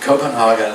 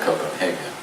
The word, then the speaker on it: Copenhagen: So what you see on your screen is one of the postcard views of, I call it Copenhagen, okay, so just forgive